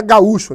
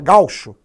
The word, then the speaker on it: gaúcho: Na verdade, a pronúncia não é... Aí o gaúcho aí, ó, não é gaúcho, né? É gaúcho.